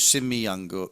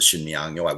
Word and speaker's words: Sinmiyangyo: But in this case here, this is spelled SIN. Well, I did the old romanization on my site was SHIN, to give the sh sound.